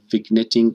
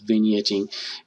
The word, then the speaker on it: vignetting: we're going to go next to vetting or vignetting actually it turns out the the right way to say that is vignetting it's going to like